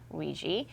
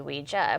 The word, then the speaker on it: Ouija: Real briefly, so the term Ouija or Ouija is taken from the French oui for yes and the German ja for yes, Ouija. So the correct pronunciation is actually Ouija, and that's what it was originally called.